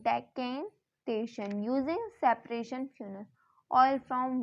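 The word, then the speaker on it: decantation: यूज करेंगे, सेंट्रीफ्यूगेशन, डेकेंटेशन, इसका pronunciation होगा डेकेंटेशन, using सेपरेशन funnel, oil from water.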